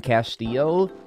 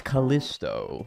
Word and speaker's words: Callisto: i love how dagdal always mispronounces my name as castillo and it's callisto not castillo i'm sorry but either